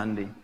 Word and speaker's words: Hyundai: Jepang bikin Honda ya Korea bikin hundai Hyundai bacanya hundai kemudian sana masuk Piala